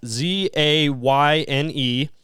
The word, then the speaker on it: Zane: It's Zayne, which I believe is the same as the One Direction guy.